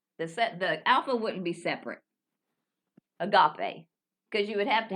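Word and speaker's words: ἀγάπη: But that's not how it's pronounced. You get into syllabification, but every syllable is supposed to have a consonant, and every syllable is supposed to have a vowel. Does that make sense? Every syllable is supposed to have a consonant. So it was, or a vowel. Yeah, you have to divide it like this. Agape. Agape. Agape. Agape instead of agape.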